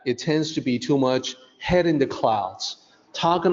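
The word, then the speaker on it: 目: Mu is the Mandarin pronunciation for the eyes.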